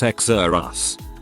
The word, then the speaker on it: Xerxes: emphasis on first syllable xerxes pronounced exer us my friend and i